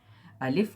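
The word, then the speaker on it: ألف: और दूसरा है आए अलिफ जो है यह इसका साउंड है आ साउंड होता है और यह जो है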